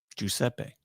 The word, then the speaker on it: Giuseppe: Giuseppe. That's how we pronounce it in Sicily.